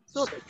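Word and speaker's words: should: Ini juga L-nya nggak dibaca. Sud.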